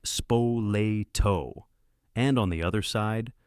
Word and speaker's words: Spoleto: The two biggest players were a warlord family from a place called Spaltto. Say it like Spoleto.